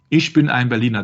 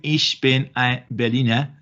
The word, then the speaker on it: Ich bin ein Berliner: Ich bin ein Berliner. This is the original, supposed to be the original note, yeah, so that he knew how to pronounce it. Ich bin ein Berliner.